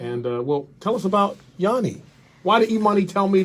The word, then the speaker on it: Yuni: We've got DJ Yuni.